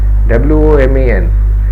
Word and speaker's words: women: woman w-o-m-n woman is changed to woo men w-o-m-e-n however this woman is pronounced as women women so you may write